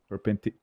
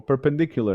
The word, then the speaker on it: perpendicular: so to speak okay perpendic or perpendicular angle it's the correct way to say it oh God okay I'm